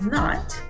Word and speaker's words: não: as you can see the word no the teal here on top once again nasal sound no same thing here is